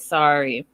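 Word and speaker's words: Sarai: i'm saying it right maria says it's sari it's spelt s-a-r-a-i sorry so i'm going to say it sorry um is the number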